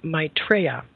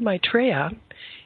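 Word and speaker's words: Maitreya: world scene and at their head the Lord mitraa let me spell that for you m AI t r e y a uh and the Lord mitraa uh is actually the one awaited the expected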